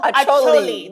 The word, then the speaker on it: Acholi: Acholi.